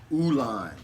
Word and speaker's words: ulan: Today's word is ulan. Ulan. U-L-A-N. It's pronounced and spelled the way it sounds.